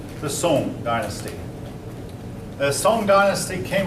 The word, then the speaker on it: Song: That looks like Song, but I believe it's pronounced Sung. If any of you know any different. Song? Song. Okay, thank you. All right. The Song dynasty.